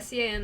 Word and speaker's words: Sean: curious, but there's SHAUN, there's SEAN, which somebody like got in an argument with me that SEAN is not pronounced Sean, as if I don't know what Sean is.